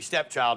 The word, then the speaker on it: Stepchld: That's actually Stepchld, but for some reason we don't put an I in it.